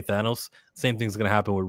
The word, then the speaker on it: Thanos: Like Thanos was what was said before from comic readers, and now they all gotta say Thanos.